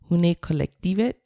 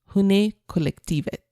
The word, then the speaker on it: Hundekollektivet: My guest this week is Lone, and she runs the Etsy shop Hundekollektivet, and she's based in Denmark.